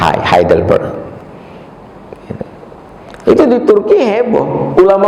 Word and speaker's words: Heidelberg: Hai kalau engak Sal Kalau tulisannya e eh Jerman itu bacanya i g kalau EU bacanya o Euro orang Jerman bacanya O hei dibaca ha heidelberg itu di Turki heboh